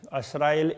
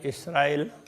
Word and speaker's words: इसराइल: बनी असराइल, असराइल इसराइल, इस तरह से वो उच्चारण में थोड़ा थोड़ा फर्क है। कोई असराइल कहते हैं, कोई इसराइल कहते हैं।